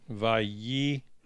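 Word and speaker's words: ויקח: And so you say, Vayikach. And I'm highlighting the part that's pronounced ye. I wanted you to see it real good here. Vayi.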